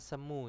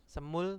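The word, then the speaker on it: 스무: G yaobun jadi huene sama semu ya semu itu kan nanti digunakan di ee penyebutan ya penyebutan kata cuman 20 aja kalau 21 ya semuran ya semul terus Han tetap ya kalau kalau 20 aja semu itu kalau penyebutannya di angka asli Nah terus kita lanjut Nah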